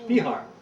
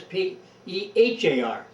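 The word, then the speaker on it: Speahar: It was, around The one that owned it to start with was Spejar, we call him. Oh. Spihar. I think it Spehar. They always pronounced it Spejar at that time.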